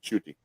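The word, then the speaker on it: Ncuti: is it I mean yeah that's how you pronounce it chuty all right good enough yeah basically end is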